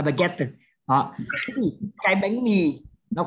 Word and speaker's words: baguette: Tiếng Pháp nó không đọc là tờ mà đọc là baguette. Nó đọc rất là rõ là baguette.